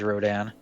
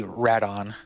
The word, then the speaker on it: Rodan: make me forget that rodan's name is rodin because in the dub it is pronounced they well it's not pronounced they say radon right on i'm not sure